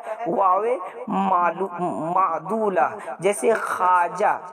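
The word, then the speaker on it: خواجہ: वाव अलिफ जीम हा, तो होना तो ये चाहिए था कि इसको हम खवाजा पढ़े, लेकिन ऐसा नहीं होता है क्योंकि ये वाव साइलेंट होता है, ये वाव को गिरा दिया जाता है और वाव गिरा करके अलिफ के साथ हम पढ़ते खाजा।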